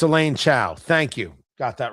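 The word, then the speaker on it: Elaine Chao: Did Elaine Cho, is it pronounced Chiao? No, it's Ela Cho.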